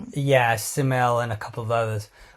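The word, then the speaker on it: Ksamil: There's probably some nicer spots down south like we recommend what it Kasmill simile simile sorry with a cage but it's a silent K I think yeah Siml and a couple of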